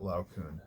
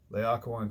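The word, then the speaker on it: Laocoön: This is not Laocoon. Please resist temptation to pronounce it that way. Laocoon comes up, and he's on Capys's side, right?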